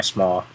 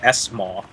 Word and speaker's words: SMAW: It's like small. It's one word. Where's the extra syllable coming from? I understand that there's an S there, but that doesn't mean you have to say it.